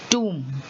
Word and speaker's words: tomb: Then you say succumb, thumb, tomb. So these are all words where the B is silent.